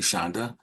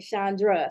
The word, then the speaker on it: Shonda: Shonda, I hope I'm pronouncing your first name correctly, Shonda. Dr. You did. Most wonderful. On the first try, I say Chandra, so I appreciate the no R in there.